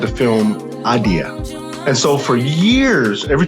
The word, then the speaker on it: Adia: I see it I' I'd say idea idea and she corrected me she said It's idea. Well, that's so interesting that you say that because I prefer like the Americanized pronunciation of my name, but my family, like my Nigerian family or other people within the diaspora, they will say Adia. Like there is like a different like tonal inflection you can have with my name.